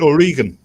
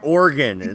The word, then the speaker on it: Oregon: ain't no worries what pronouncing the state wrong because I said or Oh oh my god oh you mean O'Regan it's organ she just snap at